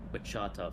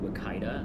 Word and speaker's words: Wichita: It's Wichita, yeah. There was a man at one of the events I was at who called it Wakita, and I was like, please don't ever say it like that ever again. No, it's Wichita.